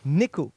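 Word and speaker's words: 猫: Neko. Ok. N-E-K-O. N-E-K-O. Ça s'écrit.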